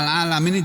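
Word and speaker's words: العالمين: Al-alam ini jamak dari alam. Al-alamu. Di sini berbunyinya dalam bentuk jamak al-alamuna kalau marfu. Ini mansub. Majrur, mansub maupun majrur sama dibacanya al-alamin. Ya.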